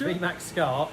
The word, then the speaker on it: VMAXSCART: Actually, how do you pronounce it? It's VMAXSCART.